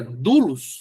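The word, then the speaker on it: δοῦλος: que a gente fala eh doulos seria dulos dulos hum perfeito irmão seria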